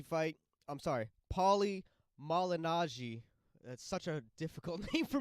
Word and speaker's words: Paulie Malignaggi: they're making some great points about this the Paul imagine algae fight I'm sorry Paulie Malignaggi such a difficult thing for me to pronounce that fight yeah he's saying that the